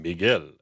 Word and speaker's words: Miguel: You pronounced Miguel properly.